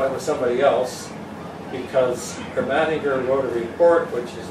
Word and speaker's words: Ermatinger: Now, I've heard that there's different pronunciations of his name, but people in the Hudson's Bay Archive, where we used to go to get old documents in, they're now in Winnipeg, they called it Ermatinger.